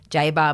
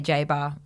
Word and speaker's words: Jabour: sister went by Jabor so we knew that Jabor was the proper pronunciation but we didn't mind that it was Jaber my grandfather who was Lebanese would say Jaba everyone was fine with